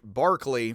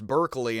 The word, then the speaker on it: Berkeley: is for the Irish Barkley for us Berkeley and it looks like Burkley uh but not pronounced that for either um George Barkley lived